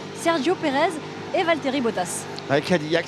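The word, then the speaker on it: Cadillac: Perez et Valterry Botas Kadillak c'est bien français hein le nom on prononce à la française parce que c'est un petit gars qui vient de France qui vient à côté de de Toulouse.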